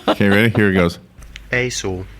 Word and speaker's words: IJssel: The river is spelled IJSSEL. Do you want to hear how it's pronounced by an official Dutch? Sure. Yeah. Okay, ready? Here it goes. Aesel. Aesel.